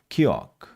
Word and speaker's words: Kiok: And how do I pronounce the name correctly? Queen or Queen? Kiok. Kiok. Oh, I'm so sorry. Queen Kiok.